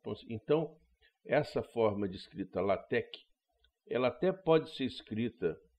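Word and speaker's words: LaTeX: é chamado de latec esse x final é o que grego né então latec seria a forma correta de se pronunciar é que tem um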